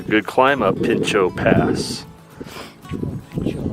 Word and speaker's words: Pinchot: Pinchot, I mispronounced it. Pinchot.